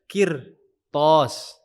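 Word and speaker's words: قرطاس: Jadi bukan bukan kita bacanya qir thos qir thos bukan tipis tapi tebal.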